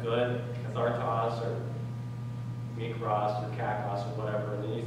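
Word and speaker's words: κακός: How do you pronounce that? Kakos.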